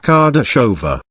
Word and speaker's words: Kardasova: Also, find out everything you can about a girl called Barbara Kardasova, pronounced Kardashova.